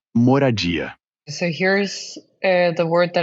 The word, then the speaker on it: moradia: A palavra que você procura é moradia.